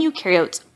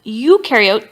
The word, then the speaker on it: eukaryote: So one way I like to tell students to remember this, eukaryote, the U rhymes with do, they do have membrane-bound organelles, and prokaryote, the pro rhymes with no, and they do not have membrane-bound organelles.